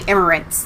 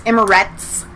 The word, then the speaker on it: Emirates: uae united arab emirates i always say i always want to say emirates like there's an n on it's not it's emirates okay they didn't have